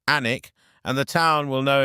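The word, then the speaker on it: Alnwick: Alwick, pronounced Anic, and the town will know immediately that you're not from here if you don't.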